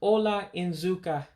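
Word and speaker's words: ụlọ nzukọ: a meeting room so you pronounce it ola in zuka meeting room hola in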